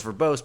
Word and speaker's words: verbose: us like an extra word today the words verbose but proper is this other word that's coming